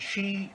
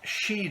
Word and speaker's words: Xi: language as well so where there is an X so it is pronounced as she so President Xi Jinping as well as